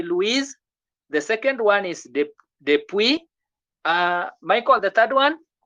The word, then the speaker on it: Depuis: Depuis, S is silent. S is not supposed to be there.